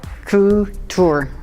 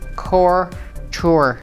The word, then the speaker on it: couture: take it away Brenda coo tour often mispronounced as core tour is a fashion that